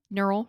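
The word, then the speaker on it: Gneural: e you are al the G is silent neural rhymes with mural and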